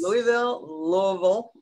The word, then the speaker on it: Louisville: I was just going to ask, is it Louisville or Louisville? Because I've heard it both ways. Louisville is really the way you pronounce it, but right, I'm trying to go